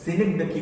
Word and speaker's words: synecdoche: सिनेक्डकी, SYNECDOCHE, सिनेक्डकी।